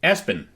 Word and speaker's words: ESPN: one of the most popular baby names was Espen, spelled ESPN, and it was birth fathers that liked sports a lot, obviously.